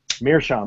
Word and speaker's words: meerschaum: Meerschaum.